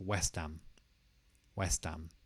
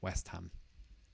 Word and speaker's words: West Ham: And instead, we'll just have West Ham. And again, the two words are not separated. They kind of come together. West Ham.